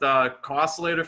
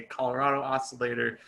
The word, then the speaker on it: COscillator: Some people say Colorado Oscillator. So, any of those is cool if anyone wanted to know.